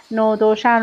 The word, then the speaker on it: ندوشن: ایران و تنهاییایش نویسنده محمدعلی اسلامی نود نوشن مخصوصاً من تلفظ نودوشن رو سرچ کردم و که بتونم برای شما کامل و به صورت درست و صحیح تلفظش کنم با اسپل کامل نو د شن لطفاً با من همراه